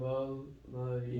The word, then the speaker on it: المريض: Here there is no shadda, then we have to pronounce the lam. Zahab al-Marid.